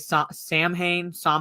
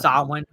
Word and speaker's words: Samhain: And yeah, they were pronouncing it Samhain or something like that in the movie, and it's Samhain. Yeah. It's not pronounced how it's not pronounced phonetically how it looks because of the Celtic speech.